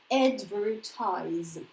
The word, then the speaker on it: advertise: Okay, this is a tricky verb. Many people make mistakes in pronunciation of this word. So this our favorite yeah, and then ties. Okay, we open up this syllable, advertise.